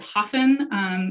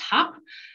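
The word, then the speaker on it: Höfn: Some people may pronounce it Hafen. Icelandic folks, it's pronounced Hop.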